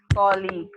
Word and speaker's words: colleague: Yes, how do we pronounce the word colleague? So it is pronounced in this way, colleague. Okay, it's not colleague as many of us hear some people pronouncing it.